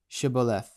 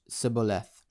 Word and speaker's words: Shibboleth: If he said no, then they would say to him, Say now, Shibboleth. And he said, Sibboleth. Since he could not pronounce it right, then they would seize him and slay him at the fords of the Jordan.